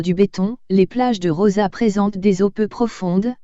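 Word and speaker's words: Roses: À Rosa, à moins d'une heure de voiture de Perpignan, Rose prononcée Rosa en catalan déploie ses charmes de destination familiale et sportive.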